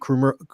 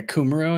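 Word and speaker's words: Kumerow: We had to throw that absolute piss missile to Jake Krumero. Did I say it right finally? Yeah, Kumaro, I think.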